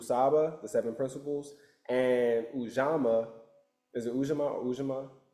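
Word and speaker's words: Ujamaa: Each day you have a specific principle and those are called the indubu saba the seven principles and ujama.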